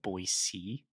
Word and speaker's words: Boise: down there is pronounced boyc boyy yeah so if you want to fit in with the locals the locals it's that hard C at the end the silent c don't give it that Z the boy C there